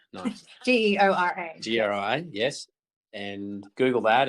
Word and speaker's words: Geora: Did I spell that right? No. Geora.